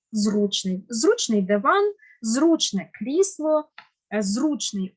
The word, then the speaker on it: зручний: на передостанній склад і останнє слово було зручний як би нам не було дивно вимовляти це слово але наголос має бути на першому складі зручний Зручний диван зручний крісло